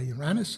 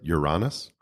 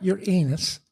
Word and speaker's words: Uranus: on one side by Uranus and On The Other Side by Neptune it's very interesting you just pronounce it Uranus not Ur anus Uranus now I just feel